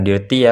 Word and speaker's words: dirty: Ini bukan dirty ya bacanya, berarti bacanya dirty, artinya kotor.